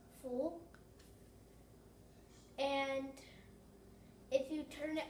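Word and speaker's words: 福: This word means good luck and is pronounced full.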